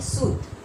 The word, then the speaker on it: सूत: यहाँ हर्षु और यहाँ दीर्घु, छोटी यू और बड़ी यू। यहाँ है सुत, स में हर्षु त, शुद्ध। सूत का मतलब क्या होता है, बेटा, बेटा। और यहाँ बड़ी यू तो उच्चारण क्या होगा, शूत, ये खींच के होगा, शूट, शूट, और यहाँ पर क्या है? सूत।